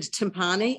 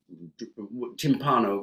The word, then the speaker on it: timpano: the recipe of how to make is it timpani? Am I pronouncing timpano.